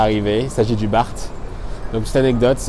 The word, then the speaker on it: BART: Il s'agit du BART. Donc petite anecdote, ils appellent ça le BART, mais ils ne prononcent pas le T aux États-Unis, très peu du moins. Du coup ils disent le bar.